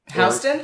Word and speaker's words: Houston: up the classic one how do you say the Houston Street in Manhattan Houston yup exactly which is spelled just like Houston Texas say that's another one